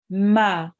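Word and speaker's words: مَ: And mim with the fatha is pronounced? Ma.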